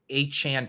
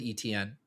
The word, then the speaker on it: Etienne: because that's like the down south pronunciation of that name with the little French in there. And I was all it's Etienne, you don't know ball, you're stupid.